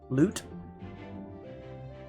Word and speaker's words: lute: Lord or royal repute lute excellent now the ground shield and the Royal lewd was well-tuned load what well-tuned lu rhymes with lewd they have the same final syllable legally speaking the crown